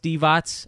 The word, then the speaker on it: Divac: It's spelled like the name. I know it's pronounced Devots. I know that can be misleading, but it's DIVAC.